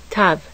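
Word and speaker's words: תו: Tav. Tav. With the dagesh, tav is pronounced like T, as in tin.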